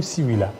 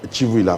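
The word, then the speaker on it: Tshivuila: Chivouila ou Sivouila? Chivouila, parce que les CI, l'Académie Louba, prononce Sachi, les TSHI a été déjà transformé pour les choses.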